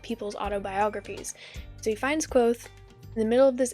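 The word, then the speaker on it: Kvothe: it's told is that there's this guy named quoth or kavo that spelled kavoth but it's pronounced quoth there's this guy named cloth and he lived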